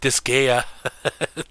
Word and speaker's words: Disgaea: This guy, you pronounced it correctly. See, Disgaea.